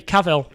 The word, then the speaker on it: Cavill: cavalry have come so say cavil cavalry Henry Cavill there we go Henry Cowell